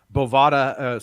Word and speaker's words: Bovada: Bovada, the book that rhymes with Nevada, whatever.